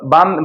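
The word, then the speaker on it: balm: बाम, बालम में बाम L silent आ जाता है।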